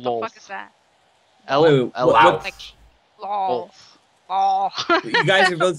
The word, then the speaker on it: Lolth: You do know that it's pronounced Lolth, and if Durian continues to mispronounce it, it will break your cover.